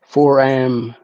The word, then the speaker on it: foram: she just calls them a forum yeah yeah for am it's spelled f o r a m foram Phil